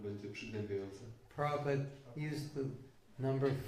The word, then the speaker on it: Prabhupada: Prabhupada. That's correct. Prabhupada. Prabhu. It's actually Prabhupada.